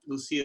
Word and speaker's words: Lucia: Forget those pronunciations, Ian. So Yes. Our family produces a wine called Lucia. Lucia is our main label that we do, all from our estate fruit.